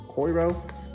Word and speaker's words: Coiro: Coiro. It's backwards. It's C-O-I-R-O.